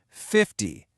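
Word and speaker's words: fifty: Now, let's contrast that with 50, where the stress is right at the beginning.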